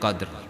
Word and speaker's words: Qadr: ma adraka ma Lailatul Qadr." Jadi kalau membacanya jangan dibaca qad. Bunyikan dal apanya ra-nya jangan hilang. Inna anzalnahu fi lailatul qadr. Jangan lailatul qadr. Enggak ada ra-nya, enggak boleh hilang.